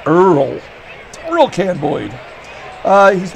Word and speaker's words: Oil Can: beer can in fact you pronounce oil earl thrill can boyd uh